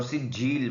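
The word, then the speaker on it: سجّيل: Scene में सीटी है, जीम पर शद सख्ती से पढ़ने वाला और लाम के नीचे दो ज़ेर है लेकिन वक़फ़ में ये साइलेंट हो जाएंगे तो सिज्जील बन जाएगा।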